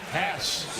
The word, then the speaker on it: Hess: Jared Hess. Did I say it right? Hess. Yeah. Like class.